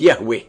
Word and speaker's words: Yahweh: himself as I am, which in Hebrew is pronounced Yahweh.